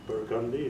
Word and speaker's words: Burgundy: But I didn't know it was Burgundy and Charters. Did you know it was Burgundy?